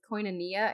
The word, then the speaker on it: koinonia: The original word for that fellowship, the Greek word for it is koinonia. I think I pronounced that right.